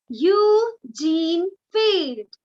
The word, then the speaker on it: Eugene Field: Next, the poem is written by Eugene Field. Eugene. Eugene Field. Okay, the pronunciation is very different.